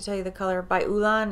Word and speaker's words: Olann: Ulan, that's the way that's the way it's spelled. Olann.